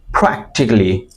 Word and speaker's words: practically: প্রথমত উচ্চারণগুলো ঠিক করি, এটা পি না, ফি। Practically, by using your two lips, right? P. Listen and repeat after me. P. P. Practically.